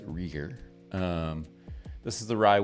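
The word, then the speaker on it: Rieger: been on some other channels briefly it's often mispronounced it's rer um this is the Rye Whiskey Bottle and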